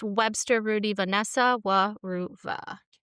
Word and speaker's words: Weruva: Wuva.